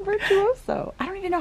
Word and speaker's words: Virtuoso: Not virtuous. It looks like virtuoso.